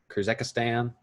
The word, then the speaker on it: Kyrgyzstan: Kyrgyzstan.